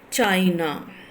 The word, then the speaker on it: China: See, China, China, China, two syllables are there, and where you are stressing chai, chi, you are stressing, and then na, you are passing lightly, that China, China, na, you are not pressing na, you are not stressing.